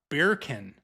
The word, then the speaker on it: Bircan: He said Dr. Birkin, but I remember because it's beer can, but it's spelled BIRCAN.